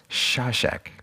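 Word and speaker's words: Šašek: is Mira slav sassek I was corrected about how to say this from someone on the internet they said they said it's shawshack so okay you talk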